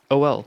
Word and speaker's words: oil: Which I don't understand why it's oil. It's just OL. Oil. Not oil. Oil. Oil? Oil. Oil. Oil. Yep. Exactly how that's spelled. How you spell that nerdy is pretty much how it sounds. Oil. Oil. The I's shortened. The I's very shortened where you just don't say the I.